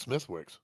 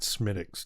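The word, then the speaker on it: Smithwick's: heard of it what's Smithwick I think they pronounce it smic don't they smiix I from my English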